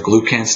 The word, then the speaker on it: glucans: Okay, with beta-glycans or glucans, depending on who's pronouncing it, it's in oats.